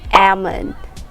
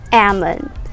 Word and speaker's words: almond: similar to that and the word is almond almond so again we don't say the l sound it's like silent l we just say almond almond say it okay